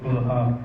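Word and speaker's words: خلفاء: You pronounce it right. Khulafa.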